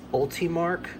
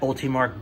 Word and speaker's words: Ultimarc: the upgraded mod and I think it's pronounced ultimark and what it does